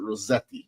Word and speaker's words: Rosette: Okay, it's Rosette. Okay, Rosette. It's okay in Rosette, like a Z. You want me to pronounce it Rosetti?